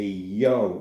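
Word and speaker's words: 洋: the Western handle is called a yo in Japanese it's described as a yo handle like yo-yo a yo handle this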